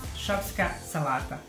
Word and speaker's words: Šopska salata: This is how you pronounce Šopska salata.